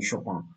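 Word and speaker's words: Chopin: সেই জন্য ঠিক না, এই যে এই যে এই যে এই যে শোপার কথা বলা, সুপিন শোপান কথা বলা, এই যে পোল্যান্ডের শপান এরকম উচ্চারণ হওয়া উচিত।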